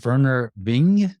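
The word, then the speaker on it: Vernor Vinge: I think it's Werner Bing. Is that how you pronounce that?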